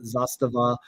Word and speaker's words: Zastava: uh they are fantastic I love the brand Zastava uh renko definitely corrected the pronunciation of the name but zostage uh that